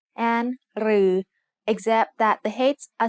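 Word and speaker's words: ฤๅ: รือ is pronounced like a combination of รอเรือ and the long vowel สระอือ They are both written like the letter ถอถุง with an extra long line.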